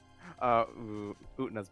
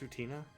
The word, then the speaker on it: Utena: Utna's my favorite. Isn't it pronounced Utina?